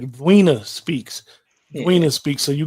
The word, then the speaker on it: Zweena: and it says Zen, but it's pronounced with a hard V. It's like Vina speaks.